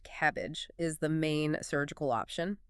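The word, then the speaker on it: CABG: Coronary artery bypass grafting or cabab pronounced cabbage is the main surgical option.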